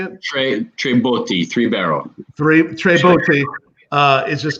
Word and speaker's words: Tre Botti: So I can imagine the Tre Bottes, is how you say it? Tre Botti, 3-barrel.